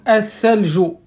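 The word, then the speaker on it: الثلج: C'est le TH anglais, d'accord? Donc, la langue, en fait, il dépasse un peu. Donc, il se place en dessous des incisives. D'accord? Donc, athaljo. Attention à la prononciation.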